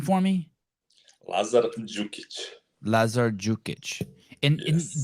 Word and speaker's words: Đukić: Lazar Đukić. Lazar Đukić. And Yes. that D is pronounced like I always pronounce it like a J. Đukić.